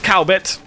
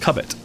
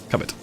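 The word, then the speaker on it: Cowbit: That is the town of Ket, not Cowbet. It'll probably stab you if you said that. Not really. It's a It's a tiny Norfolk town, but uh it's pronounced Cubbet. Yeah, Cubbet. Like cupboard.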